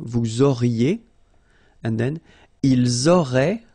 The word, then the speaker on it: auraient: auriez, and then ils auraient, little link, but then look, A-I-E-N-T like that, and you only pronounce E, like we had here. It will be exactly the same pronunciation here.